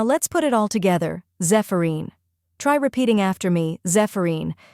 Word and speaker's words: Zephyrine: The correct pronunciation is Zephyrine or Zephyrin. Let's break it down. First we have ZEF, which sounds like Zeph in Zephyr. Next is a short, unstressed vowel sound like the A in sofa.